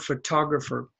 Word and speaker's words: photograph: picture photograph photograph photograph and the stress is on the first one full to breath but here it's on